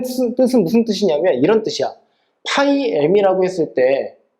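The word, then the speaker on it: φ: 밑에 뭐가 있냐면 오일러 파이 함수라고 하는게 있어 오일러 파이 함수 근데이 오일러 파이 함수를 오일러 p 함수라고 읽어주기도 해 자 생겨먹은 건 다음과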